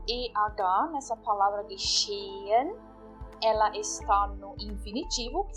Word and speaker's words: geschehen: Geschehen. Geschehen. Verificam que eu 2 vezes falo o E, na verdade. Geschehen. Geschehen. Eu não estou pronunciando o H aqui, de novo.